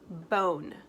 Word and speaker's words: bone: what letters mmm n good job with a silent e because if I don't have that e even if it doesn't sound like anything this word says bond it would be a short o sound but bond isn't a